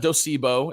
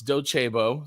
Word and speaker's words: Docebo: executive at docebo yes it's not docebo it's docebo say it right um and then podcast